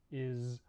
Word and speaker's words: is: So, for example, we have some common words like is, was, hers, and his. These are all spelled with S, but we actually pronounce them with a Z sound in English.